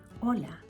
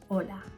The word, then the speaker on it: hola: Ola. Ang spelling niyan ay H O A pero hindi pino-pronounce ang Hola.